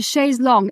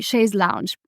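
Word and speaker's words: chaise longue: just horrific anyway so it's a shay long l o n g u e most Americans say Sha's Lounge personal style includes how you speak includes how you spell and again we don't want perfect but you do want to say sh's long you do want to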